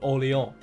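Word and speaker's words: Orléans: that New Orleans is based on it's called ollie on and they call it New Orleans but anyway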